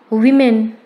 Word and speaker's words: women: Women. Women. Women is the plural of woman. Its correct pronunciation is women.